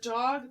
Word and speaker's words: Diogee: It's spelled Diogee. G-O-G. D-O-G. D-O-G. G-O-G. And I was like, oh my gosh, I'm such an idiot. D-O-G. D-O-G. Yeah, Dog. D-O-G. It's literally Dog.